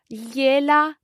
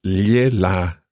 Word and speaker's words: gliela: In this specific case, it would be io gliela scrivo domani, for example.